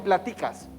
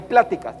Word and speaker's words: pláticas: No qué platicas. ¿Qué pláticas? Lleva acento en la primera A.